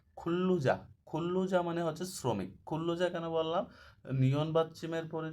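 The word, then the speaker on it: 근로자: হচ্ছে কোম্পানির কর্মচারী খুল্লুজা খুল্লুজা মানে হচ্ছে শ্রমিক খুল্লুজা কেন বললাম নিয়ন বাচ্চিমের পরে যদি রিয়েল আসে তো ল উচ্চারণ হয় কুল্লুজা মানে শ্রমিক এখানে আছে খেয়ংসালগুয়ান খেয়ংসালগুয়ান হচ্ছে পুলিশ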